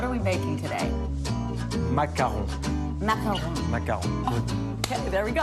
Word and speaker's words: macaron: word correctly what are we baking today maon macaron maon okay there we go all right now